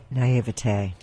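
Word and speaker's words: naïveté: Now, explain to us a bit of what demonology is, because I guess in my naivety, how do you say that, Lola? Naivete.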